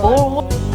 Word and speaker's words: Boerewors: How do you pronounce this? Boerewors.